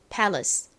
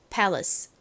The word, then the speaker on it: palace: 받침 L입니다 다음 Palace 실제 원어 발음에서 리 이렇게 e 발음이 아니라 힘이 빠진 어에 가깝게 소리가 나는데 어떤 모음이 들어가냐는 a